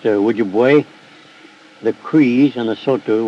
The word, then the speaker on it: Ojibwe: The Ojibways, pronounced Ojibwe, the Crees, and the Sotu were among those MacDonnell encountered by the River of Death.